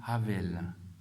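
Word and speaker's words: הֶבֶל: Abel, en hébreu, ça se dit Havel.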